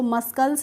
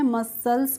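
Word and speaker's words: muscles: तो फ्रेंड्स आप यहाँ पे सी का प्रोनाउंसिएशन रूल समझ चुके होंगे, तो हमें इसको मस्कल्स नहीं पढ़ना है, मसल्स पढ़ना है।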